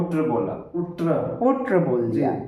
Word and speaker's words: उष्ट्र: उष्ट्रह कह दिया। उ बोला। उष्ट्र। उ्र बोल दिया। जबकि शुद्ध संस्कृत उच्चारण उसका होता है। उष्ट्र उष्ट्र।